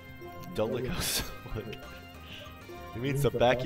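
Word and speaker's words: dolichocephalic: Oh, it's dolicocephalic. Okay. I thought it was docio. Dolicocephalic.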